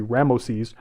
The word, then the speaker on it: Ramses: Partly, we know that Moses is an Egyptian name because the Egyptian pronunciation of Ramses would be Ramoses, Ra-Moses.